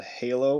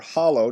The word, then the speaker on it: Halo: video game franchise called Halo, or Hollow, depending on where you are. You might pronounce it Hollow.